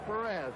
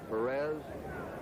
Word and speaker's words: Perez: of that cincinnati lineup we anglicize his name it's the way they call it in cincinnati his hometown and most of the announcers perez perez is the spanish pronunciation but we get some